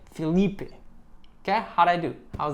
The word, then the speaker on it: Felipe: I'm sorry. I'm Spanish. I see Felipe. I want to pronounce it like they do in Spain, but you bastards believe I can almost sort of get it right. Okay, Filipe.